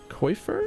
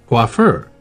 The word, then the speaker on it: coiffeur: of moments, I give thanks for this splendid coiffer? Is that how you say that? That's a word I've never seen before. I mean, I understand what it means. Google, how do you say that? Coiffeur.